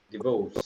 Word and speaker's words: divorce: Divorce. Divorce. R is fine. R is like very Divorce. subtle. Very subtle.